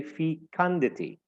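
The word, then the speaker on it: fecundity: is the noun fandi so the second syllable is the one that is stressed we say feity and it's uncountable we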